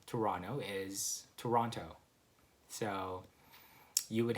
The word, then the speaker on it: Toronto: you just add that toe and the last syllable. So Toronto, and that would be the other way of saying it. A lot of my American friends would just call it Toronto.